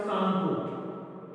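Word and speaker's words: Tsangpo: सांगपो, टी सांगपो, T silent रहेगा, सांगपो।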